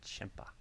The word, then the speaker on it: Ciampa: needed to be involved it's like chimpa like c-i-a huh yeah champa it's a weird pronunciation for how it's spelled i don't like it